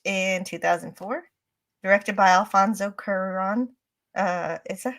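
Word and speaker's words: Cuarón: was uh released in 2004 directed by Alfonso kuron uh is that how you pronounce it yes that was perfect H I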